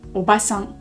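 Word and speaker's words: おばさん: le grand-mère par contre on a tente qui s'écrit comme ça et qui se dit au bassin au bassin donc avec un seul a donc on a au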